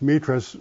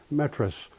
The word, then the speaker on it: Metras: um Greek background with my name being pronounced metus but my father's family had a division right down the middle of his brothers and sisters where the older half pronounced it metris which is more the French Canadian way and the lower half is some reason pronounce it metus which is kind of a Greek thing so I have metus